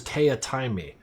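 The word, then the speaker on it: Teatime: like his nemesis, and his name was Taya Taimi. Like, it was spelled tea time, but he pronounced it wrong because he couldn't stand being named that.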